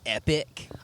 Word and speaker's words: epoch: I think it's Epoch, but is it supposed to be like Epic? I call it Epoch because that's how you pronounce the word Epoch. The word you pronounce it is epic.